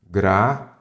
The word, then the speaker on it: gratuito: Que, neste caso, a pronúncia é gratuito. Sim. Então, isso daqui é hiato ou ditongo? Isso daqui é um ditongo.